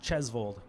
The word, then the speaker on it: Tjosvold: is very Norwegian uh it's spelled TJ oos v o l d but it's pronounced chesal so uh my my